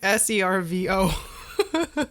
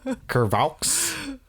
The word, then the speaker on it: cerveau: How do you spell it? Cervaux. That is not how I thought it was like SERVO. Curvaux. Sautéed curvaux. Curvaux.